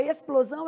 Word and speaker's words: explosão: E na palavra es, o X é pronunciado, plo também é pronunciado, todas as letras aqui são pronunciadas, zão, porque esse S aqui está com som de Z, mas ele é pronunciado.